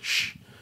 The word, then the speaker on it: kuš: It's like it's the letter S and exclamation mark, but it's obviously it is shh.